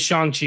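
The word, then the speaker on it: Shang-Chi: it's shong chi it is shanxi it is shang chi i heard it pronounced correctly so this is shinji okay my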